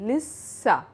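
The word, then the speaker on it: لسّه: In Lissa, we have to pronounce the sin 2 times, Lissa. So the sin is pronounced 2 times.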